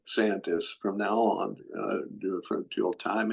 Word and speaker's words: DeSantis: We see DeSantis, Yeah. which is the correct way to pronounce it, by the way. DeSantis. DeSantis from now on, till time immemorial.